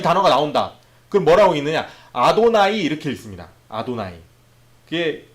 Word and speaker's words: 아도나이: 그럼 뭐라고 읽느냐? 아도나이 이렇게 읽습니다.